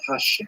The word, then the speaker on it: Hashem: God and the word Hashem of course is pronounced with the letter H but there is no